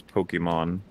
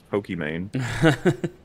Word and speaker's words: Pokimane: So you would correctly pronounce that as Pokemon. Oh, I see. But everybody who hears that her name is actually Pokemon is like, are you an idiot? It's Pokimane.